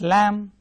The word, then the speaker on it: lamb: silent last group says silent B, as in lamb. It's not lamb but lamb, thumb instead of thumb, num, crumb, climbing not climbing, bomb instead of bomb, comb instead of comb.